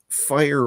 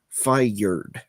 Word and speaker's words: fire: actual president Trump pronounces fire or fired uh not as two syllables it's fired or fire more more like that um I I can't even do the accent properly myself but it's generally one syllable whereas during that speech it was in it was very very strongly two syllable fur um there's there's a lot